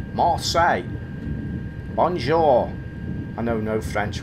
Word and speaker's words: Marseille: Marseille, it's pronounced. He's just said in the voiceover. What did I say at the beginning? Marcel. Marseille.